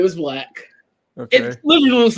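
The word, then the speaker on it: 6LACK: I would have said 6 Black and kept going. And then we would have another. I would have called him 6 Lack. I would call him 6 Lack. His name was Black.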